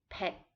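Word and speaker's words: เผ็ด: spicy spicy hot is pet pet this is a low tone so it will be a little bit shorter pit to be delicious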